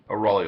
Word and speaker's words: Raleigh: How do you pronounce it, Raleigh? Raleigh Lake, yes.